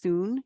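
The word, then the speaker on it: cun: widths they call those soon c-u-n is the way it's usually spelled but it's pronounced soon usually and then go along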